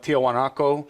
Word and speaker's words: Tiahuanaco: confuses people because the whole site is called tiwanaku that's the native word for it but this the Spanish the Spanish pronunciation of that was more like Tiahuanaco so Tiahuanaco became the